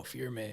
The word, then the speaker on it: firme: it's called firm foundation fear me it's spelled firme okay um it means something